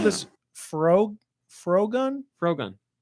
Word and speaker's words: Frogun: Frogun. I would have called it Froggun Okay, because the gun is a frog.